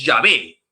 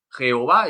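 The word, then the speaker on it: Yahvé: muy flexible pero la pronunciación es llave jehová es un artificio que viene después esto yo ya lo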